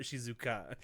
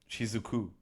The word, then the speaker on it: Shizuku: re-record this entire episode, but her name is Shizuku, not Shizuka.